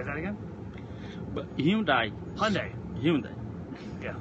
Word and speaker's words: Hyundai: how to pronounce Hyundai the guy who is the vice chairman of Hyundai he told me how to pronounce Hyundai if he runs the company and he says say Hyundai well guess what it's Hyundai done with that topic